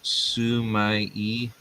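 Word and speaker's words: sumi-e: Lord Shadow's working on I believe it's sumai e something like that he sent me the proper in an email the proper way to pronounce it I'm probably butchering it you know we are most likely suai yep I said it right yeah he says Su that's awesome I'm going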